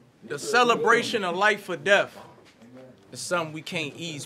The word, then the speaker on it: Deth: to keep him alive my name is death without the a so both of you speak about the name it don't matter how it's spelled it's still going to be pronounced the same appreciate y all